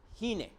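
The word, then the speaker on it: הִנֵּה: Significa precisamente esta misma expresión, he aquí, que en hebreo se pronuncia Hine.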